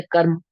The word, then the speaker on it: कर्म: कर्म लिखा है कर्म तो कर्म में भी मा से पहले रा का उच्चारण होगा या नहीं होगा कर्म में जब हम बोलते हैं उच्चारित करते कर्म तो र मा के ऊपर लगा होता है लेकिन उच्चारण में र पहले बोलते मा बाद में बोलते कर्म ऐसे बोलते ना तो कहते कृत